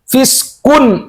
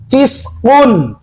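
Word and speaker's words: فسق: Fiskun. Apa bedanya dengan kaf kalau fiskun? Hati-hati. Misalkan contoh gini dibacanya. Dzalikum fiskun. Nah, ini huruf apa? Huruf kop. O berarti kun. Jangan fiskun. Kalau fiskun berarti huruf kaf.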